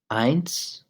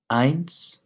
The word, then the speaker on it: eins: remember when you're saying eins emphasize the EEI that's where you're that's the strong part of this word the NS is it's much lighter but the e is strong so pints now number